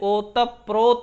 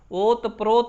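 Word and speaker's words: ओतप्रोत: जब ये भी संयुक्त है, देखिए यहाँ जब संयुक्त व्यंजन आते हैं तो उनको द्वित्व करके पढ़ा, जैसे ओतप प्रोत होता है, ओत प्रोत नहीं पढ़ा जाता है।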